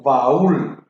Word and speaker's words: baúl: debe tildar, como el caso de baúl. La fuerza de la voz recae en la vocal U, termina en una consonante L.